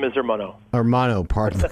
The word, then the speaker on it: Ermanno: n g all right uh armano am I pronouncing your first name correctly uh very close the name is armano armano pardon the call thanks for being a